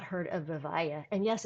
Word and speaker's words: Vivaia: I would be surprised if you've not heard of Vavaya. And yes, it's pronounced Vaya.